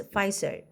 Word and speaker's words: Pfizer: So the P is silent for this word, so we want to pronounce it as Pfizer.